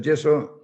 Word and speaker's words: yeso: Geso famoso que en Estados Unidos llaman geso porque ellos no tienen la y entonces no tiene más remedio que pronunciarlo con la g, pero es el yeso tradicional español.